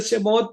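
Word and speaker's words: שמות: Y en Éxodo, Éxodo aquí dice Shemot, para quienes no conocen el lenguaje o la pronunciación del lenguaje hebreo, es lo que conocemos como Éxodo.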